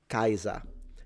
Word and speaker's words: Kaiser: So I believe in German it's pronounced Kaiser, while in classical Latin it would be Caesar. And the difference would be that the S is a S and the R is fully trilled.